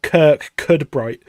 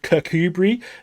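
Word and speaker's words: Kirkcudbright: Because it doesn't read Kookaburra. Like if you read it like as just like an English person read it, it's spelt like Kirk Cudbright. So it's a bit like, okay, the Kirk Cudbright Kookaburra. It's not as good. But I found out when I was there, the place is actually called Kookaburra, but it's just the way it's spelled.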